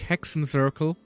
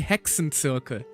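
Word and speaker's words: Hexenzirkel: Also, it's very funny how I like on stream even I call it like hexon circle even though the proper German pronunciation would be hexen circle.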